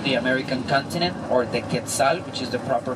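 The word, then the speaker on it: quetzal: like 400 different species of birds including the quetzel which is considered the most beautiful bird of the American continent or the ketal which is the proper pronunciation uh we also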